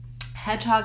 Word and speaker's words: hedgehog: how to do it hedgehog has two syllables and the stress is on the first syllable hedge but it also has secondary stress on the second syllable hog so hedgehog is actually